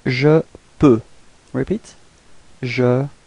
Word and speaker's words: peux: So for the first person, je, it's je peux. Repeat. Je peux. So actually you don't pronounce the final X.